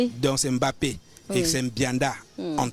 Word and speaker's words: Mbappé: manière MB soit écorché on ne prononce pas le m devant le B donc c'est Mbappé et c'est Bianda on